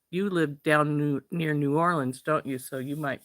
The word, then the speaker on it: New Orleans: lived down new near New Orleans don't you so you might be or to pronounce it more properly noin um hey Maryann um